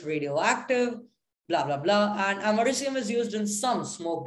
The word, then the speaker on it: americium: nuclear weapons poisons etc americium yes that's how it's pronounced it's named after america by the way americium is